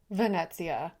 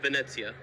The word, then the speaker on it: Venezia: We spent two weeks on the Carnival Vanetsia. That is how you pronounce it.